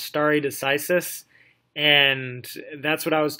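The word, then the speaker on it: stare decisis: various judicial sources of authority this this is pronounced starry decisis and that's what I was talking about I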